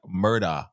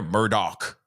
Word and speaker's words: Murdaugh: much for the five he pronounced it like murder when he identified himself see that's what I'm saying so it's murder but everyone's sitting there Murdoch okay everyone's sitting there going Murdoch and I don't know why